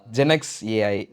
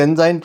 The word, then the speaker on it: ZenXAI: ஜெனக்ஸ் ஏஐ அது ரொம்ப சூப்பராக இருக்குது. சில பேர் ஜென்சாயின்னு ப்ரொனவுன்ஸ் பண்ணுவாங்க, பட் இருந்தாலும் பரவாயில்ல. ஜென்சாய் அதுவும் நல்லா தான் இருக்குது ப்ரோ.